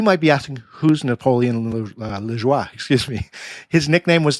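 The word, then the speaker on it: Lajoie: a player named Napoleon leis and I actually spoke to a former colleague of mine who's Canadian they they gave me the correct pronunciation so I hope I'm hitting that correctly but Napoleon leis he was acquired by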